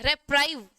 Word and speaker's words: reprieve: ठीक है, इसकी स्पेलिंग है REPRIEVE। ठीक है, रेप्राइव।